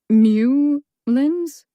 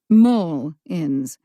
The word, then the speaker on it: Mullins: How is it pronounced? Mole ends. Well, Macy Mullins, why are you here?